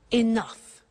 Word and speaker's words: enough: she doesn't have enough money now this word enough enough it's written e n o u g h the pronunciation is enough what does it mean let